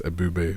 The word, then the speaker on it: Ebubè: And on Spotify, it's Ebubè with the accent on the last E, like that.